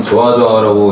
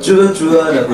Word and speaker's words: 좋아좋아: 이 곡은 좋아좋아라고 읽는 것보다는 쭈아쭈아라고 읽어주시면 되는 그런 곡이에요.